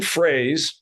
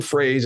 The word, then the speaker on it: Froese: change her name's Elaine Fraze and it's spelled f-r-o-e-s-e but it's and pronounced like the thing that you say when you say it in English it's a phrase Elaine phrase if the folks want